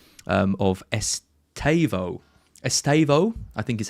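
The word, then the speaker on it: Estêvão: Uh I've been told off by Jordan Smith my um pronunciation um of Estavo. Estavo, I think is how you're supposed to pronounce it if we are to believe Jordan, not Estavo.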